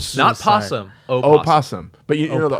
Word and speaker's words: opossum: possum.